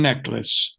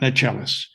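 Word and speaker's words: Necheles: begins uh immediately the the lawyer mentioned twice pronounces her name Susan neace not not nalis but I'll leave that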